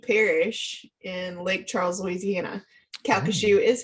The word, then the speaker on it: Calcasieu: Calcasieu is how you say it.